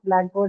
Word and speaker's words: blackboard: The stress has to be on the first one. So then we have to revise our understanding of blackboard as a compound adjective.